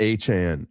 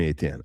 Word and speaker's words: Etienne: I'm not calling him that. He's coming back to New Orleans. The correct way to say Etienne in French, which is he's from Louisiana. I'm calling him Etienne.